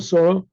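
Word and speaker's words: שרה: Let's say Ashkenazic pronunciation. Vatamat Sorah, the Sorah died B'Kiryat Arba, in a place called Arba, Kiryat Arba.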